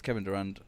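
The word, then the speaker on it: Kevin Durand: Yeah, it's Kevin Durant.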